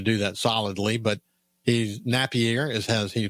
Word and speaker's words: Napier: Colin Napierre. Napierre. It's not Napier as it as it would be pronounced if you were trying to do that solidly, but he's Napierre is has he pronounces his last name, but